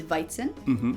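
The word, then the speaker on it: Weizen: it's spelled the same wheat is viten and then it's really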